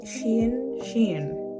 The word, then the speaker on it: Shein: Shein.